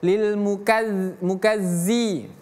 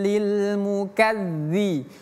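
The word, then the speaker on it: المكذبين: Bukan zai. Jangan kita baca yauma izi atau lil mukazzi. Keliru. Aro'aitalladzi, itu pakai zal, bukan aro'aitallazi. Oke? Berbeda. Jadi bacanya yauma idzil lil mukadzibin.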